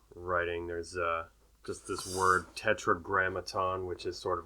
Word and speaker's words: Tetragrammaton: Tetragrammaton, and it has 5 syllables.